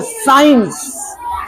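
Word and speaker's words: science: सी उस क्या पेंगे इसको क्या पेंगे साइंस साइंस साइंस साइंस इसको क्या पढ़ेंगे साइंस साइलेंट रहेगा चुपचाप रहेगा आगे इस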